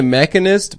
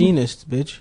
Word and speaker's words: Machinist: He straight up He made the mechanist before he did Batman. Is that how you pronounce it? Machinist The the mechanist.